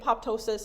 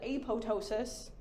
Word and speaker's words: apoptosis: I don't know where this came from, but I've always pronounced it apoptosis, and I was listening to some medical podcast, and they pronounced it apoptosis, like the P silent.